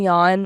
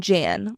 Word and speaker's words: Jan: Oh, Jen and Yan, which I am so sorry I had been pronouncing his name incorrectly. I was saying Jan like an absolute rookie.